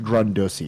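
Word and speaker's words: Grundrisse: So, Marx's 1857 to 58 Grundussy, Grundussy. It's pronounced Grundussy.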